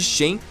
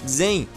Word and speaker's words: Xen: Aliás, a pronúncia correta de Shen é, na verdade, Xen, mas eu acho meio esquisito pronunciar Xen enquanto eu falo português e por isso eu opto por falar da maneira errada mesmo.